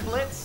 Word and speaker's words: Blitz: I'm Blitz, the O is silent.